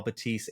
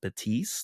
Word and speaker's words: Betis: You have, Cucho going to apparently Real Betis, not Real Betis, but I'll I'll give my pronunciation better luck next time on that one.